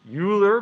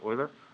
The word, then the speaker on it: Euler: which some people say euler but those people are wrong this is a german name it should be pronounced euler um euler realized or